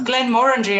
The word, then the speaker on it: Glenmorangie: But you know, I do like a nice Glenmorangie and Oh yeah, that's my favorite. That's Yeah. the one, man. That's the one. It's Glenmorangie actually. I wondered how you pronounced it.